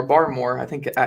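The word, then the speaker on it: Barmore: gonna christian bar or bear more bar more i think i i think it's bar more is how you say it yeah bar i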